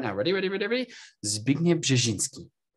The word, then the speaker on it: Zbigniew Brzeziński: ears feel listening to those people try and pronounce Zbigniew Brzeziński. How hard can it be? Zbigniew Brzeziński. Come on, try it with me. Try it with me right now. Ready, ready, ready, ready? Zbigniew Brzeziński.